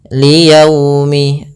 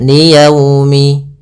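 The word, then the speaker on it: لِيَوْمِ: Dalam pelafalannya harus lembut liyaumi. Agar menyempurnakan makhraj huruf wau, kita agak monyungkan bibir kita. Liyaumi ya dilembutkan yaumi.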